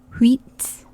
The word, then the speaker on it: uit: Wheat, like wheat bread, but not pronounced like wheat bread. Wheat, wheat. Neuf, neuf.